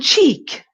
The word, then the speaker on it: cheek: and wide ick um and then cheek cheek your mouth is much softer cheek cheek cheek why cheek